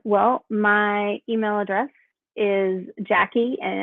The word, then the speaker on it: Jacqui: for them um well my email address is Jackie and it's spelled j-a-c-q-u-i dot at b h